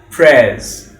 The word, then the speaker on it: prayers: Not my morning prayers, it's prayers.